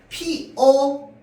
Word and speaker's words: 피어: 그래서 얘가요 표준 발음이 어떻게 되냐면요. 피어 맞습니다. 적힌 대로 발언해야지. 근데 피여로 발음하는 것도 허용해 줍니다.